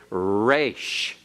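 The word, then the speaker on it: resh: go on Rach okay the R as in rot and the are in Hebrew we kind of give a very smooth pronunciation we say rocked rat rate we say all those things but remember in other languages its rolled a little bit and in Hebrew the race is rolled a little bit not normally so much the beginning but especially internally and so as we go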